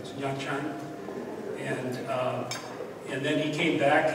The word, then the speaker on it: Nha Trang: And he was gone for over a year, and we weren't even sure how to pronounce the name of the place that he went to. It's Nha Trang.